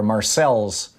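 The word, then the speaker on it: Marseilles: bob and marseille are marcel's illinois right you pronounce the ls right yeah uh well yeah you do here because we aren't in france and nobody speaks french here there you go yeah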